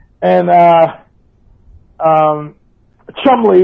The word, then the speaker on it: Cholmondeley: names and uh um chumley is like a word like worcestershire or lester you see a lot of english words in england with all these letters and it's three syllables so so that's kind